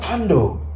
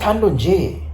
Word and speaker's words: Tando: Because it's just Tando. It's nothing else. It's nothing more than just Tando. It's just Tando J. Then J is silent.